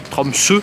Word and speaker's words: Tromsø: Tromsø, parce que le O barré se prononce E.